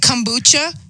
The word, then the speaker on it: kombucha: Is it kombucha? Is that right? You got it. That's perfect. Yep. Not many people get it.